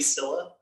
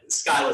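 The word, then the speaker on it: Scylla: this it's i think it's technically silla but skyla is way more fun to say um i don't uh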